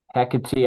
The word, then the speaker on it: Hecate: is it Heck or Hecate? Hecate I think is is more proper for the pronunciation of Greek.